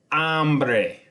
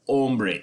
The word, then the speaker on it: hambre: next one is tengo hambre tengo hambre I have hunger I have hunger day and again this is hombre HAMB re not hombre h om BRE okay tengo